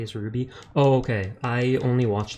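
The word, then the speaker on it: RWBY: Ray white black and yellow is just pronounced phonetically as Ruby oh okay I only watched like the first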